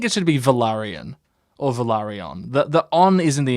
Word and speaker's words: Velaryon: like daenerys germasmo um so valyrians would pronounce it velarion valerian or valeri no it's it's three like there's four syllable words like velaryon so velaryon or valyrian thought that it's an